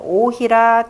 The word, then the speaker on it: 於戲: 8절에 쉬운, 자, 어조사 어자를 여기서는 감탄사 오로 읽으십시오. 자, 오희라 전왕불망이라 하니 같이 읽어야죠.